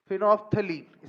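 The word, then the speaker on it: phenolphthalein: फिनोप्थलीन spelling में मत जाना, फीलिंग्स में जाना।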